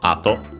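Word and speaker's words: 後: Also in other contexts, by the way, it's accented on the first syllable, ato.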